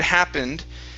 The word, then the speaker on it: happened: you see that word happened that ending is gonna be more like this okay happened like a short i into an n and a d happened just like that